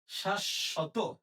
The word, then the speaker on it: শাশ্বত: উচ্চারণ হবে কিচ নুচনু আচ্ছা এরপরে শাশত এখানে তালার সাথে সাথে আছে তাহলে তালব দুইটা হবে তাহলে উচ্চারণ কি হবে উচ্চারণ হবে শাস শত শাসত শাশত গফল আছে তাহলে